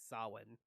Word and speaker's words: Samhain: i don't know just how do you get solid out of samhain i don't know but that's apparently how it is really pronounced is sawin but yeah um for